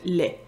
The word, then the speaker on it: laid: contraire, c'est l'adjectif « laid ». Laid, laide. Sauf que ce qui est particulier au Québec, c'est qu'on prononce le « d » comme un « t ».